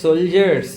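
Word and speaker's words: soldier: অ্যান্ড দ্য সোলজার্স wire brave, এবং সৈনিকরা ছিলেন সাহসী। দেখো এখানে সোলজার উচ্চারণটা কী হবে? সোলজার, ডি আছে কিন্তু ডি এর কোনো উচ্চারণ নেই, বর্গের জয়ের মতো উচ্চারণ হচ্ছে ডিটা, তাই তো?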